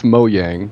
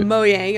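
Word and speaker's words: Mojang: like for one and it's moang so that's right moang okay um yeah Jeb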